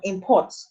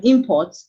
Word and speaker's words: import: When you say import, the stress is on the first syllable, making it a noun. But when you say import, the stress has shifted from the first syllable to the second syllable.